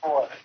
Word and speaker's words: Vuletic: How you pronounce your last name? Vuletic? It's Vuletic.